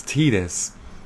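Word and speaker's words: Tidus: example final fantasy 10 the whole titus titus officially it's titus um but i still sometimes say titus but i will fully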